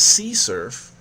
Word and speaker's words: CSRF: attack or session writing usually abbreviated as csrf and often uh pronounced as sea surf this exploit targets a